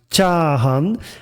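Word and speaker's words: 炒飯: the arrow you see the Japanese variation which is pronounced chahan and chahan means again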